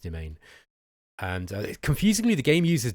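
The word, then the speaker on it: demesne: way Dees or whatever it is but it's pronounced demain and confusingly the game uses domain um also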